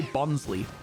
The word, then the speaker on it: Bonsly: of bons I say bons in the anime they say bonley I call it bons